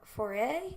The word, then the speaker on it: Foray: to be taking a tour of the SS Foray. Is that how you pronounce it?